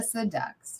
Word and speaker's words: Seduxe: The Seduxe, yes. So that's how you say it. That's right, yes. See, and like deluxe, like seductive, Seduxe.